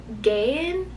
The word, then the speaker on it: Gaian: So there's the, I've been pronouncing it Gaian civilization, which is led by this religious cult.